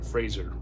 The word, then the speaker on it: Fraser: Still, on you know, Brendan Fraser, or Fraser. Been saying it wrong all these years. But Brendan Fraser for The Whale.